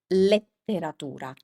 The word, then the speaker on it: letteratura: So the problem here is that in English, this vowel is pronounced as E, but in Italian, that never happens, always pronounced as E. So remember, the correct pronunciation is letteratura, letteratura. Perfetto.